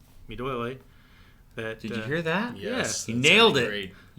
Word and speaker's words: Duole: So it's really awesome that there's groups like Duole. Did you hear that? Yes. You nailed it. Did I say that right? Excellent pronunciation.